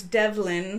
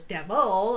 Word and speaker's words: Devlin: say it correct yeah my maiden name is Devlin so if somebody mispronounced it could come across as devil I suppose so I